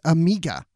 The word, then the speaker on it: Omega: the girl in there they call her omega but then when she says her name it's amiga oh with her accent yeah yeah and i'm